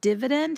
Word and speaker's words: dividend: So the way I remember it is the word divisor kind of sounds like divide, because the other word dividend is like a short I sound, instead of a long I sound as in divide, such as divisor.